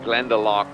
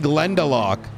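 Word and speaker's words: Glendalough: that I always have at home, it's called Glendelock. That's spelled G L E uh N D A L O U G H.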